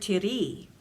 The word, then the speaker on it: tiri: section two part four in this word tiri the accent falls on the second syllable the t is short and the re is long hence the re must